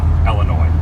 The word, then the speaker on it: Illinois: make some noise cuz we're in Illinois correctly pronunciated Illinois welcome everyone Adam the woo here I'm very